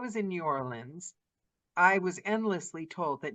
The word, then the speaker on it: New Orleans: tourists or what, because no one here says Nolans. No one here says that. And they don't say New Orleans. And it's pronounced exactly the way you said it, Daniela. New Orleans.